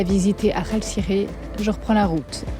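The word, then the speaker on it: Akhaltsikhe: Je suis partie ce matin alors j'ai essayé de bien le prononcer, Aralkasire. C'est pas Aralkasire, c'est Aralkasire, si je ne m'abuse.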